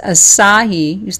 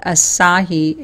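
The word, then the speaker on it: açaí: It's number one is spirulina, number two is chlorella, number three is asahi. That's how you say it, asahi, A-C-A-I.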